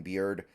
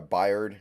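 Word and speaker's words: Byard: remember this team traded Kevin beard or byed excuse me having issues with the pronunciation today aren't we um because um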